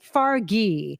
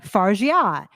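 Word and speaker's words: Fargeat: her name last night, they were saying Coralie Fargi. Yeah, And they said Fargi twice. I'm like, that's not right. that can't be right. And then like I went and I watched like the LA Times Directors Roundtable thing, and they pronounced it Fargia, as Justin Chang has, as we all always Fargia have.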